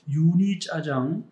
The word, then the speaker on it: 유니짜장: 네, 그게 원래 육이거든요. 육이 고기 육자고요. 이가 진흙 이자예요. 그래서 원래 그 고기를 진흙처럼 잘게 다졌다라고 해서 그 육이가 유니짜장으로 발음이 된 거죠.